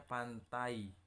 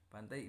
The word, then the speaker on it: pantai: Yang ketiga ada diplong, contohnya pantai, pantai itu pakai i tapi dibacanya pantai pakai y.